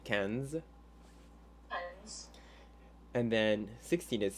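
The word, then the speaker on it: quinze: fine and then uh 15 same thing that i n is that like a sound so you would say kenz and then 16 is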